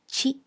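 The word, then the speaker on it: ち: Notice that the ti syllable becomes chi and the tu syllable becomes tsu.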